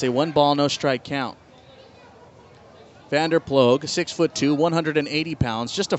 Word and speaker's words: Vanderploeg: $10 if you can spell it. 2-2. Outside by a lot, full count. Vanderploeg, V-A-N-D-E-R.